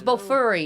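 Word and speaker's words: BOFURI: Oh, it's B furry. Yeah, but it's spelled like B O F U R I.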